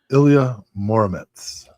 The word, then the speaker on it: Ilya Muromets: The answer is Ilya Muromets. And Did I pronounce that right?